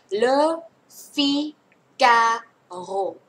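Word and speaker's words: Le Figaro: ใช่ มย ใช่ อ่าน หนังสือ พิมพ์ อ่า เฉลย เล ฟิ กาโร เล ฟิ กา เอโร นะ คะ วิธี การ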